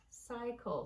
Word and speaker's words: cycle: Cycle. So again, we've got C followed by E, I, or Y. So it's making its second sound.